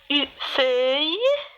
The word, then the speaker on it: feuille: Feuille, une seule syllabe.